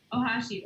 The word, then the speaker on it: Ohashi: i was like seriously and then uh owashi uh is that how you pronounce it yeah okay ohashi okay cool said okay that was freaking awesome